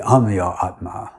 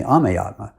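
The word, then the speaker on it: Amyatma: call it am Atma my name is spelled a m y a t m and everyone else uses the Sanskrit pronunciation and calls me Aatma but shil pra has Bengali accent and he pronounced it as am adding an o in the middle during my initiation serm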